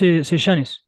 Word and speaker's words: Sellanes: It's Sejanes, but it's in like as you want. It's the same for me.